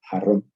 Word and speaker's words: jarrón: Es decir, una palabra como por ejemplo, jarrón, mientras que yo lo pronuncio, si me permiten, diciéndolo de una forma más familiar, con una J fuerte, ustedes lo pronuncian con una J mucho más suave, con lo que se llama el alófono aspirado.